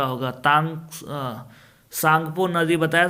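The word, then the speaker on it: Tsangpo: सांगपो तिब्बत में सांगपो नाम से, देखो इंग्लिश में देखो सांगपो लिखा है कि नहीं, टी साइलेंट है यहाँ, सांगपो।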